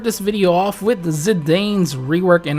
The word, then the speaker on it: Zidane: Okay guys, so we'll start this video off with the ZIDANE'S rework, and I know it's pronounced Zidane, but I really just like the sound of Zidane, okay?